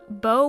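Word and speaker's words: Baeux: Their name came from oxbow, as well as bow when it's spelled B-A-E-U-X.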